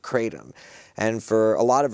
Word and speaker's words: kratom: T-O-M as in man? T-O-M, like Tom.